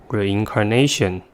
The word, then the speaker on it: reincarnation: last word is determination the word has five syllables and the stress is at the fourth one the first syllable is